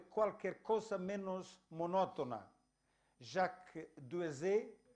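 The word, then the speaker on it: Duèze: Jacques Duezé, o Duezé, nació, ¿cómo se pronuncia en francés?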